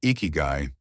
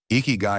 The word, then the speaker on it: ikigai: When we first encounter the word eeky guy, it feels delicate, almost like a secret. Four soft syllables.